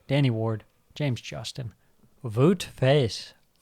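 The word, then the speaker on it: Faes: For Leicester, Danny Ward, James Justin, Wout Faz. I think it's pronounced Faz. Wout Faz.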